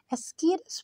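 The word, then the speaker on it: Ascaris: कीड़े का नाम है, ASS, बीच में गाड़ी के स्पेलिंग भी आ रहे हैं बच्चों, CAR कार, IS इज, एज कार इज, लेकिन हमने इसको ऐसे पढ़ना नहीं है, इसको हमने एस्कीरस पढ़ना है।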